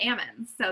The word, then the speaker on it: almonds: referring to the nut he said Ammon so Ammons yeah that's just something in our area that that a lot of The Growers that's what they call it's a silent L just like the salmon you know salmon got they shake the L out of them right yeah